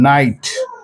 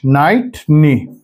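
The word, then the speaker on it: knight: এবং এন থাকে তাহলে কে শব্দটা সাইলেন্ট হয়ে যাবে এই শব্দটা উচ্চারিত হবে না উচ্চারিত থাকবে এইজন্য নলেজ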